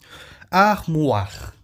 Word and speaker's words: armoire: Armoire. Armoire. Pronuncie. Armoire. É o armário. E aí você pronuncia o OI, tem som de UA em francês.